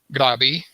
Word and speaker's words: Krabi: to bangkok grabby uh that that's the way i was told to pronounce it with kind of like a g let me get let me get note on the phone from floor i know okay okay or i think a lot of english speakers pronounce like krabi k-r-a-b-i i don't know why